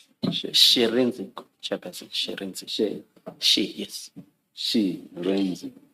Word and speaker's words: Shirindzi: Sherenzi. Thank you. Can you please say it again so that we get it right? Sherenzi? Sherenzi. Sherenzi, Chairperson, Sherenzi. She, yes. Sherenzi. She, Re, and then Nzi. Sherenzi.